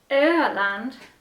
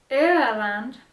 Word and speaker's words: Öland: I'm pretty sure that O with two dots is not pronounced the same as it is in German. I feel like it's pronounced like ew, like ew. Let's Google Translate it. I don't know. Öland. That doesn't sound like ew.